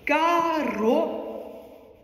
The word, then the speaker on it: Caro: c'est de l'ancien italien ça se prononce carreau il faut rouler les r r tous ceux qui savent rouler les r r autrement vous roulez pas vous faites car mais tous ceux qui